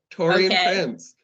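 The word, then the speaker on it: Taurean Prince: me and Becca so I'm going to go Tori and Prince that is correct that is how you say it torian Prince um we're gonna go Jared Vanderbilt two Jared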